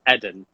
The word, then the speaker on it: Eden: people but i tell them okay my name's edin and that's what it is so um it's